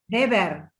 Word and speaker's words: Weber: ¿Cómo se dice Weber? Weber se dice. Weber. Weber es alemán.